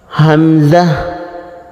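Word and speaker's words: همزة: হলো খাদ্যনালীর উপরের মাথা হামজাহ কণ্ঠনালী শুরু থেকে উচ্চারণ হবে শক্ত আওয়াজ হবে হামজাহ হামজাহ ইয়া এক আলিফ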